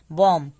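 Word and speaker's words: bomb: दूसरा कहता है कि जब भी एम के बाद बी आए तो बी साइलेंट होता है, सिर्फ एम तक हम पढ़ेंगे। कॉम, बॉम, थम, डम।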